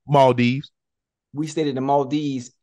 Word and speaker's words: Maldives: The mall, how you say it? Maldives.